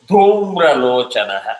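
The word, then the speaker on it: धूम्रलोचन: Sadaityo Sadaityo dhumralochanaha. Dhumralochana Dha is hard.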